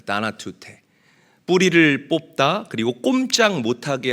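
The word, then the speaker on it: θανατοῦτε: 죽이라 이 죽인다라는이 단어는 원어로 나나투테라고 읽고 발음을 합니다 다나투테 뿌리를 뽑다 그리고 꼼짝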